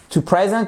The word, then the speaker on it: present: qui est sur la seconde syllabe d'accord et ici le E se prononce comme un i cour la phonétique je